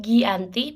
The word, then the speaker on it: Giyanti: pada 17 Februari 1755 nama giantry diambil dari penandatangan perjanjian Desa Janti pelafalan Belanda disebut Gianti pakai h yang tertulis terbaca Gianti sekarang desa tersebut